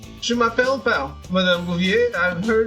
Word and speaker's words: m'appelle: Maybe it's the way she seemed to think m'appelle rhymes with my apple. Sit down, Patty. Yes, Madame Bouvier, right. Je m'appelle Pal, Madame Bouvier.